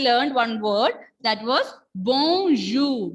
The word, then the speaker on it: bonjour: In the previous class also, we learned one word that was bonjour. B-O-N-J-O-U-R. And that time I told you here R will be silent.